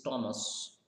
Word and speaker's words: Thomas: Like one more thing, see, people often say Thomas. What they say? They pronounce Thomas, but is it Thomas? Let's find out. Thomas. It's Thomas.